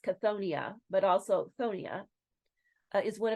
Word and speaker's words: Chthonia: month that we're diving into so cthonia usually pronounced cthonia but also Thon is one of heck's most